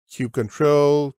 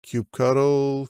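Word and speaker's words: kubectl: Linux and windows and you pick your choice of pronunciation Cube control Cube cuddle Cube CDL doesn't matter it communicates with the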